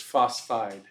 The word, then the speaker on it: phosphide: is oxide fluoride phosphorus phosphorus is a little strange because where does that first syllable end it takes it all the way to the end of the pH so it's phos you know I would probably if I was just brand new to chemistry I probably would have put fide phos right but it's include that second pH so it's phosphide okay sulfide chloride selenium